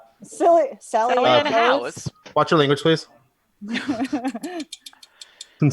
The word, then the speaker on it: Howes: Hose? It's not Hose. Sally Ann Howes.